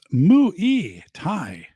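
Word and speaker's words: Muay Thai: So it's pronounced Mu-E Thai.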